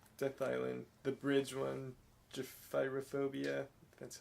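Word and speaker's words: Gephyrophobia: Gyphyrophobia.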